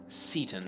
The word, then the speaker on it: Seyton: wrong when they go for that long a pronunciation but then the great vowel shift happened and this became seaton and since Shakespeare lived in the middle of